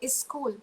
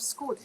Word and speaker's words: school: So some of us, we still say is school instead of school.